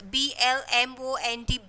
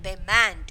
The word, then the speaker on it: Belmont: So don't pronounce Blmont, Belmont. It is, you have to pronounce that Belmont.